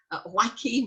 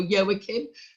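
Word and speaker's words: Joaquín: passed to his son wacky or yowakin depending on how you like to pronounce it and who never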